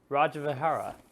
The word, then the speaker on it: Rajavihara: Just Relics of Rajavihara.